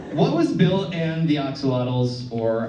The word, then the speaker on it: axolotl: What was Bill and the axolotls, or axolots, if you want to pronounce it correctly?